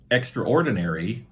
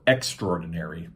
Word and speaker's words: extraordinary: we have ex uh either two ways to pronounce this extraordinary or extraordinary you you could say it either way and that's just like